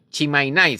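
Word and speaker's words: Tsimane: de estas personas que se llaman cimanes chim chimai se pronuncia oficialmente bien son personas son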